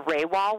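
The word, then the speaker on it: Rawah: do you say there's a few things people mispronounce and this is definitely one of them it is the Rae wall wilderness and it is a Native American term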